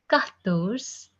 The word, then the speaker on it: quatorze: 14th is pronounced as quatorze, quatorze, quatorze, quatorze.